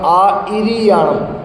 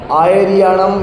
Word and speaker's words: आइरियाणम: प्राकृत में आचार्य का अनुवाद होगा आइरियाणम, छोटी ई, आइरियाणम, आइरियाणम ऐसा पढ़ा जाएगा। आयरियाणम या आइरियाणम या नहीं है, वहाँ पे ई है, ई छोटी ई, तो आइरियाणम ऐसा उसका उच्चारण होगा।